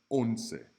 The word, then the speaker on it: once: Like once. Once has that O as in go.